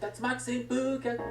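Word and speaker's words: 竜巻旋風: They pronounce it like Tatsumaki Senpu.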